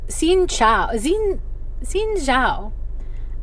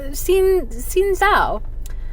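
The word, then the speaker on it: Xin chào: again in my head, I realized what I was hearing was Xin Zhao, which is hello in Vietnamese. It's Xin Chao. I listened to it a few times. I'm probably not saying it right, but when I was listening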